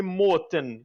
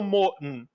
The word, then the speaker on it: måten: Tipo assim, é eu depois que eu falei eu percebi que, por exemplo, eu falei "måten" e eles pronunciam "må'n". É o o o t não não existe ali, sabe?